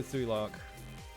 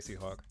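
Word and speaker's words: Tsui Hark: You think if you've seen any King Hu, Sui Lark, Sui Hark. Sorry, Sui Hark. Spelled your name wrong.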